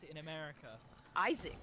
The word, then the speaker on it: Isaac: Isaac. Like, why is there so much emphasis Isaac. on the There's A? 2 A's! How do you not put emphasis on the A?